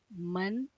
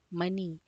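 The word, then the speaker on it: money: तो ये म अ न ई, मॉनी नहीं होता, ये मनी होता है।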